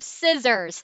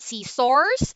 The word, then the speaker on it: scissors: number two we have scissors it's not see sores but it's scissors scissors number three we have